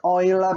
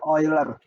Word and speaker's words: Euler: Bacanya Euler ya, bacanya Euler. Tapi tulisannya Euler. Nama orang sebenarnya.